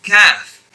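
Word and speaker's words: ك: Whereas this one here is kaf. Kaf. So it's kaf. This letter is pronounced by raising the middle part of your tongue against the respective part of the palate right opposite of it.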